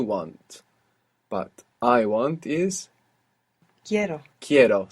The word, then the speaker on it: quiero: But I want is Quiero. quiero. So we stress down on that E and it splits into IE.